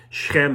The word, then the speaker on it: Shechem: piece of land near shechem or shechem shechem is how it's pronounced in israel from the ruling tribe